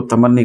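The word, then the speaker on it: تمنّی: پڑھا جائے گا تمنی، ہم اس کو اردو میں تمنا کہتے ہیں، تو اردو میں بولا جاتا ہے ایسا تمنا، تو اس طرح یہاں پہ تو اس کو تمنی کہا جائے گا۔ یہ اصل تلفظ ہے جملے انشائیہ کی قسموں میں جس کی گفتگو ہو رہی ہے وہ یہ تمنی ہے اصل میں، تمنی.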